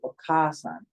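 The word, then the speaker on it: お母さん: So for a mother, it would be okasan. There's two A's. You can see it's the second letter here is ka, and there's a second a after it. So it's a long A sound.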